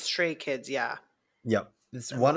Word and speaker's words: Stray Kids: Did I say it right or did I say it wrong? yeah, it's stray kids.